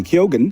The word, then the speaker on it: Keoghan: Nama-nama lain yang sering membingungkan diantaranya aktris Zendaya yang sering disalah-lafalkan menjadi Zendaya, lalu Barry Keoghan yang sering dilafalkan tanpa huruf G.